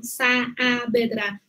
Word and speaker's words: Saavedra: No tenemos sa, sino Saavedra. Tú tienes que pronunciar muy claramente.